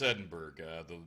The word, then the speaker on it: Edinburgh: I suck at words no no its Edinburgh the curator the person who walked us through she pronounced at Edinburgh so we're going with that holy crap I just